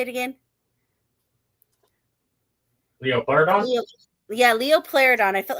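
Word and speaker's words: Liopleurodon: Leo Pleurodon. I felt like I was going to say it wrong. Pleurodon. Like plural.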